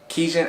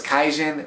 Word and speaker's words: Kijin: Kijin, I thought it was Kaijin for a second, but it's pronounced Kijin.